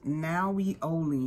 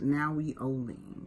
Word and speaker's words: Nahui Ollin: so that's the tag it's now we only this that's how it's pronounced now we only how this is all